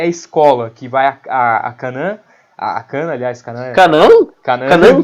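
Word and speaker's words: Kanna: É Kana. Kana. Tem Kan e Na.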